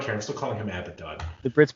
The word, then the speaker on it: Abaddon: baden second syllable ezekiel abaddon right here does it rhyme with aladdin or abba john i was more active okay i don't care i'm still calling him abaddon the brits pronounced everything